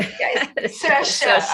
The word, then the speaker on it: Saoirse: It's something like Saoirse. I think it rhymes with inertia. I was trying to. Saoirse, I think actually.